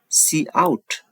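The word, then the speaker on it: cout: yes it contains the Declaration for C in C out statement it is pronounced as C in it is pronounced as see out so now move to the second we will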